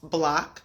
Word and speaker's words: BLCK: block and that's correct it's pronounced block So it's b l c k no o and I like to